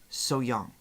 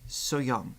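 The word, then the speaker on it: 소향: I'm pretty sure it's SoHyang. Is that correct? Like the H is semi-silent, and it SoHyang.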